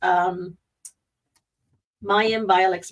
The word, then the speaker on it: Mayim Bialik: Mayim Bialik's breakdown. That's not how you say your name. It's Mayim Bialik.